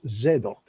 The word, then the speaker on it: Zadok: where zadok was born in hebrew which pronounced zedoc spelled z-z-a-d-o-k yes um and the